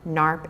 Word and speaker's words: NARP: DNA disorders um they're spelled out here and pronounced meas murf narp and liers hereditary optic neuropathy so while this